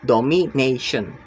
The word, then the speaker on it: domination: The stress is on the third to last syllables, domination.